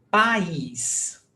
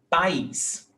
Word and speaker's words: país: Então, nós temos país. País é hiato. Nós temos A, vogal, I, vogal. They are separate syllables. País.